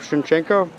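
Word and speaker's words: Shevchenko: Tarov Shinchenko. Uh yeah, the first name is Taras Gigor which is like his patronic name. The last name is Chef Chen.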